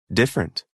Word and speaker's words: different: pronunciation pronounced fouls part a listen and practice the vowel immediately after a stressed syllable is sometimes not pronounced average different separate comfortable interesting vegetable okay very good now if